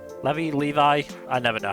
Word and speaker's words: Levi: ranked members than uh Levy Levy Levi I never know how to pronounce it I was calling I was calling him Levy from Attack on Titan for so long before somebody finally said Levi.